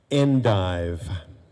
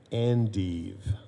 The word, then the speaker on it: endive: here we go i'm on the next page endive endive there's an alternate pronunciation and eve let me go through